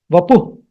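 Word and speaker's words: वपुः: The actual pronunciation is vapuh.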